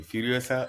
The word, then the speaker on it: Furiosa: it's the backstory of furiosa say it properly furiosa a mad F Saga furiosa Mad Max Saga